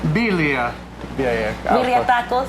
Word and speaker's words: birria: Birria. Birria.